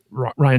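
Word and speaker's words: Rian: And I know it's pronounced Ryan, guys. I prefer to pronounce it phonetically. Ruan Johnson.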